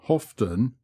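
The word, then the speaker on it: Hoveton: after the latter place hovton or hofton as it is locally pronounced is a great center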